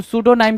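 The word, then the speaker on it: pseudonym: तो सूडोनाइम क्या होता है? पी एस ई यू डी ओ एन आई एन वाई एम। सूडोनाइम में पी आपका साइलेंट होता है।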